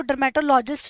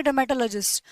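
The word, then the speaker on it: dermatologist: Logy बोल रही हूँ, लेकिन जब ये किसी वर्ड के साथ जुड़ जाता है ना, तो उसकी प्रोनाउंसिएशन लॉजी ना होके हो जाती है लजी। जैसे कि मैं इसको डर्मेटोलॉजिस्ट नहीं पढ़ूंगी, डर्मेटोलॉजिस्ट क्या पढ़ूंगी, डर्मेटोलॉजिस्ट।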